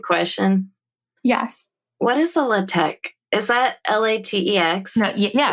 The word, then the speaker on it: LaTeX: It's pronounced LaTeX. It's pronounced LaTeX, yeah.